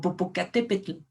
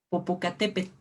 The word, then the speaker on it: Popocatépetl: tocar nuestros dientes o popocatépetl popocatépetl y estás igual bien la l no se pronuncia no es tan sonora como nosotros hemos escuchado habitualmente quizá en la radio